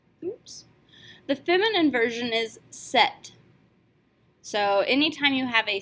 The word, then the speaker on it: cet: Ce will turn into set, C-E-T. Yes, we do pronounce this T because by definition the very next word has to begin with a vowel, which means that we're going to form a liaison.